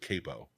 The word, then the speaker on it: Capo: and uh uh reveal big reveal my uh pronounce it Capo I that's okay it's all right I I